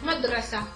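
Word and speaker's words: مدرسة: But the problem is that most Arabic words, as you already know, end with ta marbuta, end with this symbol here, which is not pronounced, like madrasa, school.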